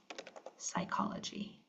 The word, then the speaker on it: psychology: PS says S as in psalm um or psychology.